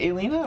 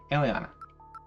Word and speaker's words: Aliana: Is it Alina or Aliana? I feel like I've heard Foxy pronounce it Aliana. Second one. Okay, Aliana.